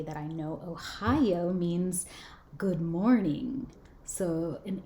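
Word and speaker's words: おはよう: But Ohio, it kind of sounds like the state Ohio, but spelled differently.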